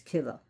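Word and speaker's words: Killa: And no, it's not pronounced Kia because it's not Spanish. It's Kila.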